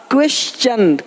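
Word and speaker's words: question: देखो यहाँ पे टी का क्या होगा? चा। क्वेश्चन, क्वेश्चन।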